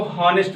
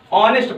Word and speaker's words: honest: ऑनेस्ट हमारा कहां से प्रारंभ होता है, यच से, HONEST, वैसे पढ़ो तो हॉनेस्ट लिखा है। ठीक है, इसका मतलब होता है ईमानदार। ऑनेस्ट इसको यच इसमें साइलेंट है, ऑनेस्ट पढ़ते हैं इसको, लेकिन इसका हिंदी में क्या है, ऑनेस्ट है।